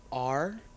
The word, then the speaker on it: raconteur: Raconteur, are there any alternate pronunciations? There are none. Raconteur. R-A-C-O-N-T-E-U-R.